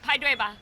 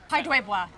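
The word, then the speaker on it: 排队吧: Pai dui ba. Pai dui ba.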